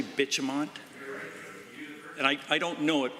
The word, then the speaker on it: Bitumont: Valley gas plant, Green Hill mine site, and Bitumont, the cost in 2023-24 was higher than originally anticipated. The Honourable Member. Did you say Bitumont?